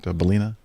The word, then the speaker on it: Ballina: Is that right, Ballina? Is that the way you pronounce that?